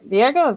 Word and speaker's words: Virgo: Next up, we have Commissioner Virgo, am I pronouncing that name right? Sometimes I always ask. it's Virgo, actually, like the Virgo. Zodiac.